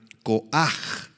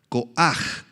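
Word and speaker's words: כֹּחַ: es la palabra hebrea coaj coaj con h al final y acento en la a coaj significa fuerza poder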